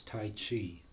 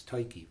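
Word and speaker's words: Tyche: I tell it to they think it's tight she but it's ty key which is a Greek god and also a Dutch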